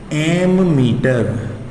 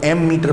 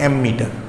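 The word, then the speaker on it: ammeter: नाम ध्यान रखना उसका, एमीमीटर। कई लोग इसको एमीमीटर पढ़ लेते हैं, कई लोग इसको एम मीटर पढ़ते हैं। तो बेटा इसका करेक्ट प्रोनाउंसिएशन है एमीमीटर।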